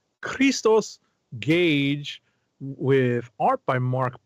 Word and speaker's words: Christos: Let me pronounce it in the Greek. Christos Gage, with art by